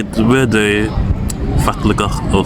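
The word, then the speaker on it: fallegur: But to say the word fatligach or fatlik, it means beautiful, and that's because double L is a T in Icelandic.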